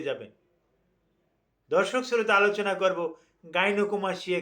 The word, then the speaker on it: গাইনোকোমাস্টিয়া: দর্শক শ্রোতা আলোচনা করব গাইনোকোমাসিয়া কি? এটা কেন হয়? কি কারণে হয়? কাদের বেশি হয়? এটা হলে করণীয় কি? মনোযোগ সহকারে ভিডিওটা দেখলে এই গাইনোকোমাসিয়া এটার আরেকটা উচ্চারণ হয় গাইনোকোমাস্টিয়া।